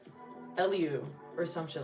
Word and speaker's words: Elihu: Elihu pronunciation. Elihu.